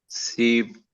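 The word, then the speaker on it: سیب: Swing, सेब, तो सेब को सीब बोलते हैं क्योंकि बड़ी ए नहीं होती इसमें। तो जो जितनी भी बड़ी ए वाला प्रोनाउंसिएशन है वो यहाँ पे छोटी ए जैसा होता है, तो सेब को सीब।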